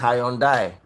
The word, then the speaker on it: Hyundai: innocent is not high you pronounce Hyundai thank you very much I've had a meeting with them before the people that brought it they said it's high and die stallion Motors when I